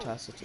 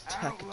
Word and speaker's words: Tacitus: Not Tacitus. You insane? I thought we was outlaws. It's Tacitus.